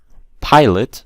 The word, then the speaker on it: pilot: Pilot, stress is on the first part.